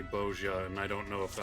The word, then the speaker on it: Bozja: Yeah, so it's the soft yeah as opposed to a ja. Bozja.